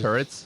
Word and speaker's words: Tourette's: Tourette's is Turrets? Turrets, yeah.